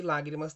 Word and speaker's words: lágrimas: Lágrimas, a palavra lágrimas tem 3 sílabas. A mais forte aqui, ó, é a antepenúltima.